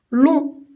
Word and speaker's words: long: Il y a aussi long et on ne lit pas le G. long, c'est le contraire de court.